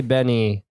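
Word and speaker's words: BENEE: pronounce this? Benet. Honestly though, I say Benny. What does she say? I think she says Benny, but everyone think?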